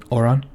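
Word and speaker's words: Auran: Oh, so Oran. It's the name of the actual language is Oran. A-U-R-A-N. Oran. That's how you say it.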